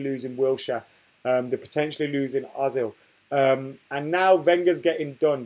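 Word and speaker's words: Özil: It's pronounced Ozil, says Scorpion 1129 Gaming.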